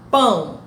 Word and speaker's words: pão: Nós escrevemos pão com O, mas a pronúncia é um U. Nós não pronunciamos pão O, nós pronunciamos pão, pão.